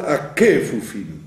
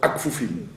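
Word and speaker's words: כפופים: Il ne faut pas dire Vezokef lechol akfufim. Akefufim. Puisqu'il est au début d'une syllabe, A étant une première syllabe, Kefufim, vous avez 3 syllabes, d'accord? A, Kefufim, vous avez 4 syllabes.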